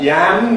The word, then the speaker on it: yam: Where we need to distinguish between a yam, which is a tropical vegetable, and jam, which is uh a fruit. One of them is a yam, the other one is jam.